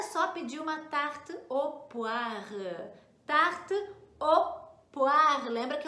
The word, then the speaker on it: poire: pedir uma tarte au poire. Tarte au poire. Lembra que eu falei que o com i dá som de ua no português. Então, poire escreve com oi, né?